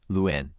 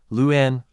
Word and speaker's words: Luan: a couple more times Luen Luen Luen Luen Luen Luen Luen Luen Luen Luen Luen Luen here are some extra tips to nail the pronunciation emphasize the first syllable start strong with L and then gently slide